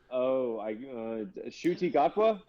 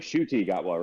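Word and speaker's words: Ncuti Gatwa: Yeah, it's just Cutie Gatwa, but it starts with an N. Remember that. But it's pronounced like Shuti Gatwa, right?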